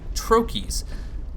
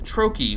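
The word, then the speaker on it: Troches: and the red leech trokies it is Troy by the way I had to look this up it is pronounced Troi but back to those in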